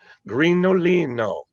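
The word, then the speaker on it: Grignolino: Grinolino. No G in it, right, Marty? Correct. Well, there is a G, just no pronunciation.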